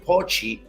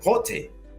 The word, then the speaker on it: Pote: Pot. Yeah. So pote, like that. Pot. Yeah. Pot. Pote, not Pochi. Like the English word pot.